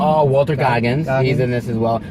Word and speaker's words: Goggins: Scoggins. Oh, Walter Goggins.